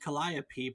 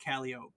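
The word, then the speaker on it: calliope: Greek Muse by the same name is produced kiai but the instrument was usually pronounced calop by the people who played it a 19th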